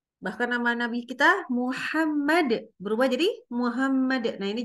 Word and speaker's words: Muhammad: jadi Muhammad dari awal kita bacanya Muhammad di depan anak-anak Alhamdulillah pakai hak bukan pakai h ya Jadi kalau mengajarkan